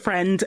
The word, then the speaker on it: Friend: Is that how you pronounce his last name? Yeah, Rupert Friend and Sienna Miller as well.